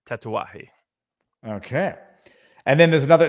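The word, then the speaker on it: Tatuaje: of the Miami operations it's spelled tattoos it's uh pronounced tatawahi okay and then there's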